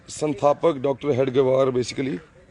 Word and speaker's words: हेडगेवार: ये डॉक्टर हेगड़ेवार, आप प्रोनाउंस कैसे करते हैं इनको? डॉक्टर हेगड़ेवार ना? हेडगेवार, हेडगेवार, हेडगेवार।